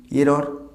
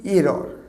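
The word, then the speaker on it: error: এটাকে আমরা বলি এরর। না, দিস ইজ নট এরর। এর সঠিক উচ্চারণ হবে এরা। এরর নয়, এরা, আর সে আরটা সাইলেন্ট, এরা।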